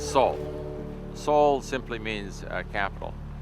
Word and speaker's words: Seoul: It's soul. Soul simply means capital. It's spelled s o u l, but the pronunciation is as if the e isn't there.